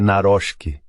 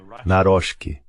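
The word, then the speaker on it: Nawrocki: Estava conversando com um polonês esta manhã sobre como pronunciar, acho que é Naroczki. Naroczki. Acho que é assim que ele diz que deve ser pronunciado, o novo presidente.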